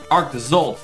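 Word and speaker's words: Arctozolt: Arctizolt, there we go.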